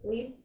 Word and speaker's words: Glebe: How do you pronounce this house? Glebe? This is the Glebe, yeah.